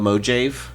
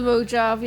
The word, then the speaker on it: Mojave: you pronounce it you what were you calling it The mojive the Mojave yeah to be fair I